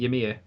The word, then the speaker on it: Ymir: Ymir?